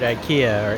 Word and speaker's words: IKEA: spooky food here at IKEA or IA or aa is really how the Swedish pronounce it.